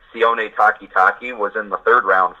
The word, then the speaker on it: Sione Takitaki: And guys like Sione Takitaki, I want to make sure I say his name correctly, you did well.